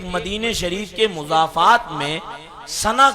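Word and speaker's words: سنح: شریف کے مضافات میں سنا کا علاقہ یا سن کا علاقہ ہے، سین نون حاس اس کا تلفظ ہے، اس علاقے کے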